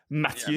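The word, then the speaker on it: Mathieu: It's like Matthew, but as you're sneezing, so it's Matthew.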